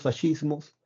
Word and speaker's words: fascismo: para hablar de los fascismos bueno primero fascismo es una palabra italiana cuando tú leas esc se pronuncia como fascismo bien así se pronuncia es una palabra italiana